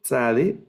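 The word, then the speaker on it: צדי: Luego, tzade, que es ese sonido TS. Bueno, en español tenemos pocas palabras que suenan así, TS. En algunos idiomas indígenas sí está ese sonido, incluso se escribe con TZ en algunos casos o TS. Se acerca a nuestra X, casi como nuestra X, pero es TS, ese sonido, ese sonido.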